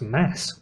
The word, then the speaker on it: Mads: enough I think it's actually supposed to be pronounced Mass oh mass m mads I know too many